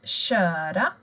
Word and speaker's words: köra: Att köra. Den här personen kör. K och Ö blir sj.